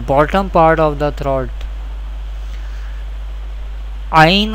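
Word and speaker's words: عين: Ain Ha pronounced from the middle part of the throat.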